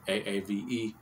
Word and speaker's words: Aave: and ave ave which however you want to pronounce it aave is how it's pronounced so the thing is